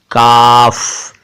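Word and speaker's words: قاف: इसका उच्चारण जरा ध्यान से सुनिएगा, काफ है, यानी इसको बोलते समय आप क आ की मात्रा और फ का इस्तेमाल करेंगे, लेकिन फ के नीचे बिंदु यानी कि नुक्ता लगा देंगे, क के नीचे नहीं लगाएंगे।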